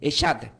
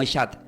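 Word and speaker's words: אחד: Entonces, pero la palabra uno significa del hebreo, quieren tomar notas, se puede deletrear como C de casa, H-A-D, y se pronuncia como Eshad. Se pronuncia como Eshad, la palabra uno.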